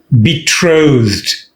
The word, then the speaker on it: betrothed: be engaged or betrothed betrothed the stress is on truth so they'll be betrothed